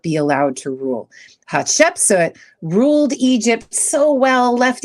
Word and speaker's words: Hatshepsut: How do you pronounce it? Hatshepsut? Hatshepsut.